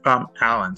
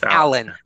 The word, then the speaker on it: Allaun: It's Allaun. So it's Allaun. yeah. Allaun. That's the right way to pronounce the last name.